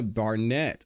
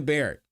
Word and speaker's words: Barrett: Well, now we're going to hear from the actual commissioner, the Fulton County Commissioner, Dana Barnett. I'm sorry, I always mispronounce her name. Dana Barrett.